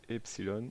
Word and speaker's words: epsilon: Donc ça se prononce epsilon, la lettre grecque epsilon.